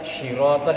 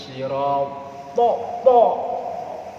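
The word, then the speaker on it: صراط: Nah, kan banyak syirotol itu udah imam rata-rata begitu. Syirotol. Karena belum pernah belajar makhraj. Ihdinas siratal. Jangan sirotol lah.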